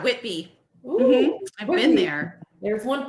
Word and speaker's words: Whitby: Abby I've been there did I say it right yeah Whitby I've been there there's